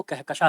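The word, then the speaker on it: कहकशां: इनको समझ में आया कि सर आपने मेरा जो नाम लिया वो कहकशा है, एन उसमें साइलेंट है, आपकी सारी बातें जो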